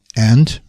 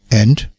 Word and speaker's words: and: AND. AND. Manchmal wird das D komplett verschluckt. N.